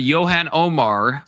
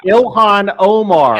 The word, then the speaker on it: Ilhan Omar: Should Yan Omar be deported?